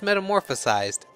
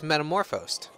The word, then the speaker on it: metamorphosed: Is that how you say it? I thought it was metamorphosized. So it's metamorphosed.